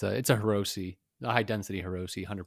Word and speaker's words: Hirose: It's Hirose. That's I'm sure Japanese, that's how it's pronounced. You pronounce each syllable.